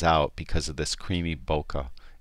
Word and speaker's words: bokeh: because of this creamy bokeh in the background or if you prefer to pronounce bouquet it's just fantastic shot